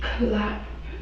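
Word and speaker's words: Clapp: How do you spell it? Okay. What's your last name? Clap.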